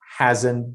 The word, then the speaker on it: hasn't: is haven't or hasn't, we do not pronounce the t sound at the end. And we we don't say she hasn't been to Japan. and we say he or she hasn't been.